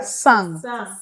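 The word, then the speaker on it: cent: To sang. Yes. Sang. Yes. Sang. Sang. The T is silent.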